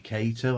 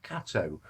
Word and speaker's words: Kato: It's not actually Kato. I've always pronounced it Kato. It's Kato.